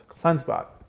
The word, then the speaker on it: CleanseBot: CleanseBot.